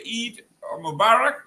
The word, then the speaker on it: Eid Mubarak: If you on the other side, we say uh happy Eid Mubarak. Is that is that how I'm am I saying it right? Yeah. Yeah, you are.